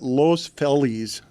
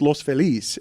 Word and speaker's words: Los Feliz: Everyone there calls it Los Feliz. And I'm like, it's Los Felis.